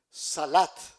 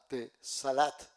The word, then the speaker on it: salat: La tercera oraciones salat. S a l salat. La cuatro, peregrinación a la meca. Aj. Se escribe H a J.